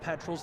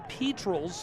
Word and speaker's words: Petrels: That's right, not Petrels, the Petrels at Oglethorpe University, their proper pronunciation.